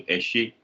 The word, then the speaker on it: Ese: So that one is ESE. So Eshe. Spelled ESE. Cool.